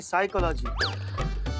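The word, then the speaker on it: psychology: हैं पिसाई का लागी तो साइकोलॉजी नहीं साइकोलॉजी पी साइलेंट होता है तुम हो जा साइलेंट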